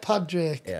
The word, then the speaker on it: Padraic: Padraic. So it's spelt Padraic, pronounced Padraic.